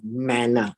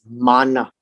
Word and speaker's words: manna: that's what it means not the american pronunciation of manna right it's manna and so now we